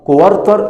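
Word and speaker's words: quarter: كوارت، والاي ار قلنا قبل كده بتتنطقش اير، بتتنطق ار. كوارتر اللي هو ربع، كوارتر اللي هو ايه، ربع.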